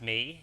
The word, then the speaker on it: Mỹ: Well, it's a Vietnamese word actually. It's pronounced me and uh it's more like if you're Vietnamese, there's like a little bonus for you.